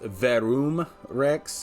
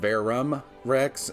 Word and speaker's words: Verum Rex: pronunciation of varam rex apparently it's pronounced verum rex instead of bear rum rex and i'm probably gonna